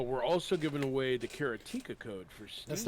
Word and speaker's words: Karateka: No, like, go it is pronounced Karateka, as he's probably trying to tell you, Oh.